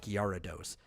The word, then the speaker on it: Gyarados: but there's a right after the G and it's garados and while the characters say it wrong in the show the person who does the voice of gados makes a gar sound he's actually saying it right yeah uh there just